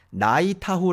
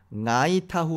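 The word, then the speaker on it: Ngāi Tahu: 타고 발음한 걸 들어보시죠 나이 타 호 라고 발음하지 않고 나이 타 후 라고 발음합니다 이게 뭐 이제 녹음으로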